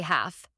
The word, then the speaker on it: half: just say night half ignore the L and say half by learning these common